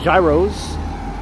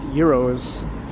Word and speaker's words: gyro: that's what he said he called them Gyros but I've heard they're properly pronounced euros yeah I remember Amado